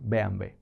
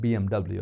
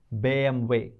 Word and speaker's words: BMW: have watched chapter 5 alphabet b m way bway that's how they say German car bway they don't call it BMW right bway if you ask any German what is this this is bway bway not BMW so I would suggest you